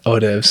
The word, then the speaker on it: hors d'oeuvres: Looks like becomes it's a silent D, isn't it? Yeah. Hors d'oeuvres.